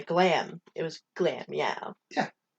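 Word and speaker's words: Glameow: me like really pronunciating it's glamio yeah that's correct yeah clear me out yeah that's right okay anyway you're putting the infinite emphasis on the glam it was glam yeah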